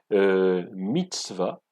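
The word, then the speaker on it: מצוה: Eh bien, il se prononce dans l'original mitzvah, au singulier, ou mitzvot au pluriel.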